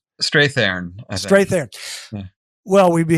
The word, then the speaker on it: Strathairn: How do you pronounce his last name? Strathairn.